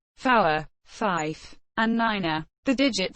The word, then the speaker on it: niner: command to shoot and nine has an extra syllable to keep it distinct